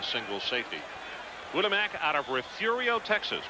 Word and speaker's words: Refugio: safety Winamac out of refugio Texas probably one of the more mispronounced of Texas cities because of its belly re F yu-gi-oh Gary hi keep going